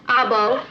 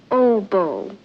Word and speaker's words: oboe: an all-girl band he plays everything clarinet sax I bow I believe that's pronounced oboe oboe oboe he plays it how does it